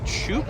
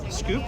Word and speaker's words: Shoop: hoping to talk to is it shoop i always scoop screw like an ice cream ah okay i already i always uh mispronounced that i just found out do you mind if